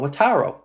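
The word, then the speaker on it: Wataru: Watro or Wataro. Wataro.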